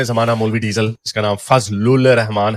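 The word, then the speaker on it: Fazl-ur-Rehman: यही है, मैं उर्दू में वैसे ही प्रोनाउंस करते हैं, फजलुल रहमान, जैसे खलीलुल रहमान नहीं है उसी तरह।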